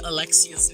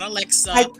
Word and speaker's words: Alexia: I love you, Curves, but you always say Alexia's name wrong. It's not Alexa. It's Alexia. It's Alexia.